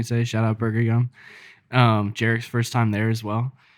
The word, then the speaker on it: Jarek: Jarek's first time there as well. And I overheard them mispronounce his name and say Jared, and he said no, Jarek.